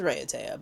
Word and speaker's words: Raiatea: Sometimes some people refer to it as Raiatea, but I think it's Raiatea. Raiatea, we've been there before.